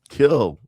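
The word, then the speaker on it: Kiln: founder of Killing Kill. No N. No N. I don't know why there's an N on here. Well, it spelled with an N, but the N is silent.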